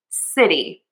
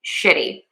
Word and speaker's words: city: And the mistake that some of my students make is they say shitty. So, I made this as a favor to one of my students who is from Japan. And in Japanese, to the best of my knowledge, they do not have that S, that s sound. Instead, it's sh or she.